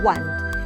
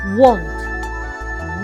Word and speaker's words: want: You say want. No, it's want.